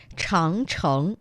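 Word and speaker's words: 长城: Changcheng.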